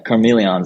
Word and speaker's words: Karmeleons: I saw you're associated with a project called Karmeleons NFT, if I'm pronouncing that right. Yeah, Karmeleons NFT.